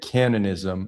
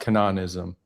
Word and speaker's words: Canaanism: I think it's the latinized pronunciation.